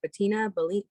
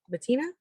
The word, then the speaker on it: Bettina: uh what is it patina bettina is that how you say it yeah yeah so that's